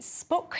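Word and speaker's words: SPUC: Child, says my late mom was a member of the spook, is that how you say it? Yeah. Society for the protection of the unborn child.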